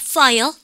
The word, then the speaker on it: file: 우리 반 발음교에서 근데 프 발음은요, 파일에서 가만히 있다가 푹 터지는 발음이죠. 발음을 갖다가 파일. 아셨죠? 근데 여러분들 요거하고 대조적으로 무슨 발음을 보통 얘기를 합니까? F 발음을 많이 우리의 혼돈을 주는데요. F 발음은 발음하실 때 아랫입술을 깨물 듯 말 듯, 안 되면 깨물어서도 하셔야 돼요. 발음가 file, 그죠?